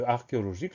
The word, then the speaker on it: archéologique: La grosse particularité, on le retient, c'est le premier son Q qui s'écrit CH.